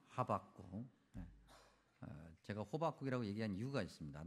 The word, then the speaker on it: 하박국: 그래서 그런지 오늘 우리 찬양대도 어 굉장히 차분하게 이게 지금 어 주님의 말씀을 생각하는 그런 찬양이 이제 뭐 이렇게 올려졌는데 하박국 호박국이 아니라 하박국 제가 호박국이라고 얘기한 이유가 있습니다.